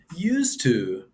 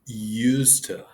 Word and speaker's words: used to: Used to is pronounced used to like used to. The duh sound in the used is silent and the words are connected.